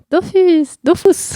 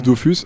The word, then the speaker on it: Dofus: Il y a plein de gens qui disent Dofus, apparemment officiellement d'après Todd, je crois, donc l'un des co-créateurs d'Ankama. C'est comme ça qu'on prononce aussi dans le film, donc je me suis dit que ça devait être la prononciation officielle.